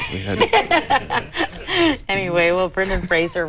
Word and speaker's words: Fraser: He has horns actually, so we had Anyway, well, Brendan Fraser rhymes with Razor, not Frasier like the TV show.